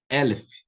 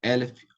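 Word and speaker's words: אֶלֶף: Então, veja bem, primeira característica do segolado, ele vem acentuado na primeira sílaba. Mavet, Elef, Orhel, ok?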